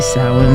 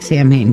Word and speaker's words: Samhain: that and there you're like it looks like Sam Hayne yes it does look like Sam Hayne but it's not it's pronounced sa okay so there you go but